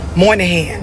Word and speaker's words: Moynihan: Moynihan, right?